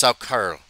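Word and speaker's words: Saukerl: Sackerl, pronounced Sackerl, is for a male.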